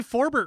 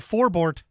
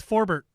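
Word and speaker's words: Forbort: to learn them uh he did say forbirt right last night he wasn't he wasn't giving out the four board it was four bert which was kind of nice to hear i'm like you corrected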